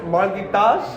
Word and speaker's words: Marghitas: We're at LFA 158, Chandler, Arizona with Paul Marghitas.